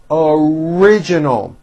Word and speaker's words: original: made the national news original four syllables with a strong R original your idea is